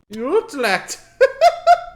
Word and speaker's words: Utrecht: How do you say it? I know it's not that. Utrecht. Utrecht. That's it. That's the one. That's the official pronunciation.